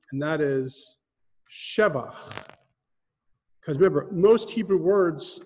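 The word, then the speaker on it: שבח: However, here, al shevach ma'aseh yadecha. Shevach. There are a handful of types of words that you emphasize the first syllable and not the second to last or the last syllable.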